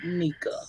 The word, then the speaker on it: Nyca: Lady Nyca.